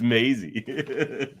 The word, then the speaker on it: Maisie: I just said Mozzie, then corrected Rain because Mozzie's the actor, or Maisie. No, it's Maisie.